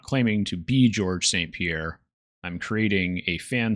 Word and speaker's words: Georges: the earlier times, which you're not supposed to pronounce the S. It's silent. It's just how you know he's French.